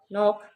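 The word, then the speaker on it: knock: नॉक, इसमें के silent है।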